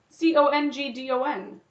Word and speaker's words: Congdon: I think that's how you pronounce it. Congdon? C-O-N-G-D-O-N.